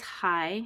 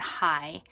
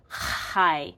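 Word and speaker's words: chi: hi here this um this is high c-h-i because it's not high I it's this real throttle high and I just it like hurts my throat to say that so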